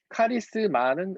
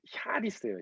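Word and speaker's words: χάρις: 이제 원래 원어 발음은 샤리스예요, 샤리스. 이제 우리가 한국말로 하면 샤라는 게 없기 때문에 카라고 있는데 카리스, 샤리스. 이게 무슨 뜻인가요, 카리스?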